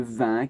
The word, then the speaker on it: vingt: Attention, le 20 qui s'écrit avec un G et un T à la fin. Rappelle-toi que les lettres muettes, comme le T, 20 objets, c'est une vingtaine. Dans vingtaine, on entend le T, justement.